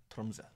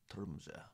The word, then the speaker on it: Tromsø: Yeah, you're actually saying it right. The Tromsø. Ah, Tromsø.